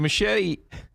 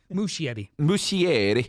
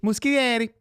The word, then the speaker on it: Muschietti: So Machete. Muschietti. Muschietti.